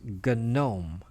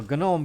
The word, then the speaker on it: GNOME: is called gun gnome it's spelled like gnome but it's pronounced gun known Soga gnome the gnome is you know gun ohm comes from you know